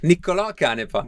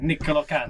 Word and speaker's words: Niccolò Canepa: Niccolò Canepa. Niccolò Canepa.